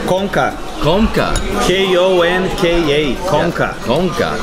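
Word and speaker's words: Konka: Komka.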